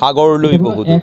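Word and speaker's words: সাগৰলৈ বহুদূৰ: ওরা সাগরটাকে উচ্চারণে হাগরলৈ বহুদূর মানে সাগর থেকে অনেক দূরে।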